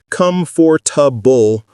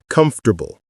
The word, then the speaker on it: comfortable: It's not come for tub bull with clear separation. It's comfortable, smooth, and fast. Pause right now. Say the word comfortable out loud 10 times. Focus on making it three syllables, not four.